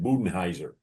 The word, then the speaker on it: Budenholzer: How do you pronounce his name? Budenheiser. Yeah. I'll say yeah. How did you meet Coach Bud? Bud Budenholzer.